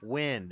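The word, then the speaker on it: Nguyen: Win. Became Silicon Valley. It's pronounced win.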